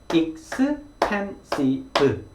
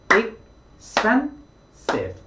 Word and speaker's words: expensive: 그러면 우리가 한국식대로 그냥 이 단어를 발음을 하면 음절이 5개가 됩니다. expensive, 그렇죠? expensive 이렇게 소리가 5개로 나죠. 하지만 영어를 사용하는 사람들한테는 이 단어가 3음절입니다. expensive, expensive 이렇게 3개의 소리의 덩어리로 만들어진 단어가 expensive 이렇게 발음이 되는 거죠.